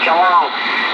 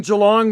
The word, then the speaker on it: Geelong: The city I live in, Joe, it'd be 350,000 has been here in Geelong. I live in the city of Geelong, and it's spelled Golf, Echo, Echo, Lima, Oscar, November, Golf.